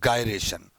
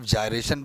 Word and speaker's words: gyration: कुछ लोग radius of जायरेशन भी कहते हैं, कुछ लोग रेडियस ऑफ गायरेशन भी कहते हैं. तो कोई प्रॉब्लम नहीं है, प्रोनाउंसिएशन आप चाहे गायरेशन बोलो चाहे जायरेशन बोलो चलेगा.